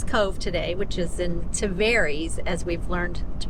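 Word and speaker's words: Tavares: left uh Fisherman's Cove today which is in taries as we've learned to pronounce it since we were incorrectly saying it tarus uh but years for years for yeah actually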